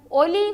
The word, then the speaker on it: ஒலி: ஒளி என்பதை நான் உச்சரிக்கின்றேன். அடுத்து ஆலயமணியின் ஒலி. ஒளி என்பது வெளிச்சம், ஒலி என்பது சத்தம். இரண்டிற்கும் உள்ள வித்தியாசத்தை அவதானியுங்கள். அதேபோல் அடுத்தது மழை பெய்தமையால் வெள்ளம் பெருகியது.